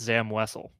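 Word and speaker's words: Zam Wesell: Uh, I don't know the bit, but that's Zam Wessel.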